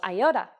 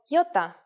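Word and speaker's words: ιώτα: This is a vowel that you may have heard called iota. In Greek, though, it is called iota, and it makes the sound E.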